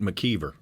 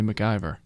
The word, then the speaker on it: McKeever: William in Cortland says you pronounce it McKeever ok just telling thank you that sounds like a local you gave me however it is how was it buys by some of our staff in here to say McIver mckeever i say i